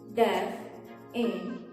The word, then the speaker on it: definitely: De-fi-and-ly. The correct pronunciation is def-in-it-ly. It means definitely. It kind of sounds how it is spelled, but we just cannot get definitely, right?